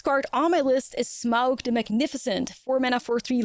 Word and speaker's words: Smaug: Before we get into that, though, like I'm pretty sure the pronunciation for this card is Smaug. But, correct me if I'm wrong. I was browsing like Reddit threads and YouTube videos and all that stuff to make sure that I had it right. So, it's not Smaug, it's Smaug.